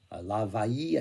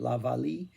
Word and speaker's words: La Vallée: La Vaille, I think you pronounce L's in French, right? La Valle.